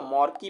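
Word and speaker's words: marquee: ये आएगा देख लीजिए स्पेलिंग मर्की मत पढ़िए इसको मर्की पढ़ा जाता है इसका मतलब हुआ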